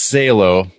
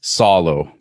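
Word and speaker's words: Salò: someone's gonna correct you eventually okay it's not pronounced salo it's solo please oh solo i see okay i anglicized it yeah if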